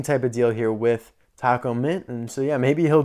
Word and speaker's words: Tach-O-Mint: according to the masses i think it's supposed to be like taco mint because it's supposed to be a play on like a tachometer in a car again i've told you